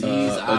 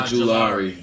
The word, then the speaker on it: Ojulari: So I'm gonna go with how do you pronounce this young man's name from Georgia? Aziz Ojulari. Ojulari.